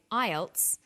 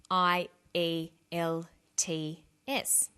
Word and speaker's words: IELTS: is called an acronym with an acronym we don't pronounce the individual letters we pronounce it as a word so we say IELTS not I al t is some other examples of